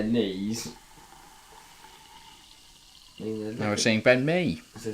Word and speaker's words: Mee: Now we're seeing Ben Mee. As I say, they should be sent off. Rhymes with knee.